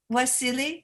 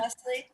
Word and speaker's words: Wesley: because of you, Sandra, Wasili, is that how you pronounce it? Wesley. Uh-huh. Wesley.